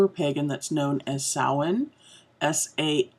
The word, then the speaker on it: Samhain: of us who are pagan that's known as saawan SI m h AI n it looks like Samhain it's not Samhain its own there's some variations on that pronunciation